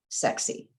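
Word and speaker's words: SEKSI: Sierra Echo Kilo, Sierra India, pronounced sexy.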